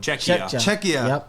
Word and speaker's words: Czechia: How do you pronounce this one? Czechia.